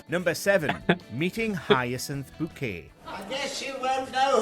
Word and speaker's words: Bouquet: say is Blobby and by the way it's bouquet number six blind date